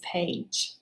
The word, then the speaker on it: page: make it long but it also makes that g say j right so we put the rainbow j or bridge day whichever one you like and we make the a long and this word is page right i have my